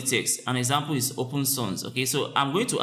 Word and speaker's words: Sans: S-A-N-S is pronounced as Sans. It's pronounced as S-O-N-Z.